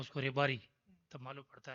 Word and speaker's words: Rebari: It is not Rabari, it is Rebari. Proper word. बोल चाल में बोलते हैं उसको रेबारी, तब मालूम पड़ता है.